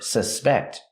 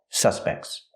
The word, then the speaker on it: suspect: So if it's a noun, the stress is on the first syllable.